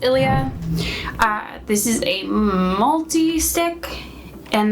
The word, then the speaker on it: Ilia: So I think it's pronounced Ilia.